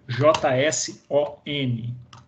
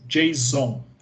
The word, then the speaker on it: JSON: Isso se escreve J-S-O-N. Tá? Se pronuncia assim mesmo, JSON. Não é JSON, apesar de ter quem fale JSON, igual lá o sexta-feira 13, mas o correto seria JSON. Tá?